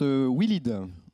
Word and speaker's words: Willid: Alors, on prononce Willid.